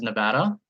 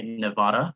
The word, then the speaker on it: Nevada: So the proper pronunciation is Nevada. I hear a lot of people say Nevada, which is, please don't say that. A lot of people get offended when you say that.